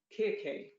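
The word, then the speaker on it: Κίρκη: such as cyclops or the bewitching kirkei which i'm told by a greek colleague that that is the actual pronunciation the seductive sirens the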